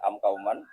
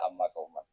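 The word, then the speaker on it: أمَّ قومًا: Jadi berkahnya kita belajar terus kita tahu, mungkin kita pas belajar baca am kauman, kemudian dibenahi guru ternyata bacanya amma kauman.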